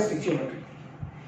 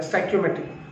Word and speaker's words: stoichiometry: सबसे ज़्यादा आने की, दैट इज स्टिचियोमेट्री या स्टैक्योमेट्री या स्टोशियोमेट्री, यू can pronounce it इन एनी वे, स्टिचियोमेट्री, स्टैक्योमेट्री, स्टोशियोमेट्री, ठीक है। अलग अलग टीचर्स, अलग अलग प्रोनाउंसिएशन।